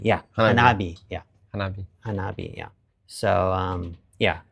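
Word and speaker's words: 花火: I forget now in Japanese, but you might incorporate fireworks into your hanabi. Yeah, hanabi.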